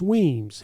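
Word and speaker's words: Wemyss: But it's pronounced Weems.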